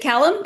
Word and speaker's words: Callum: So the Callum Walker series, Forsaken Souls, is it Callum?